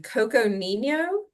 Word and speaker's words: Coconino: is this where did you have this sign Coconino Co um um Co Coconino cooco okay I